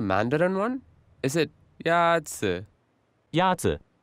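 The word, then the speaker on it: 鸭子: Yazi. Is pronounced with a first tone.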